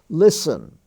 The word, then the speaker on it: listen: The ST stands for just S. Listen. Listen to me. Listen. It's not spelled Listen, it's Listen.